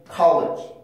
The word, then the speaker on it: college: college, college, college, college, college, college.